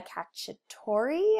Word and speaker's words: cacciatore: coconut curry shrimp soup sounds delicious right chicken cacciatore I believe is how you say it garlic